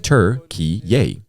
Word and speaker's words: Türkiye: The country called itself Turkiye, Turkiye, which is pronounced Turkiye, after its declaration of independence in 1923.